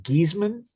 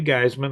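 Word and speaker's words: Geissman: Grant, I believe it's pronounced Giesman, could be Geisman. I don't recall for certain.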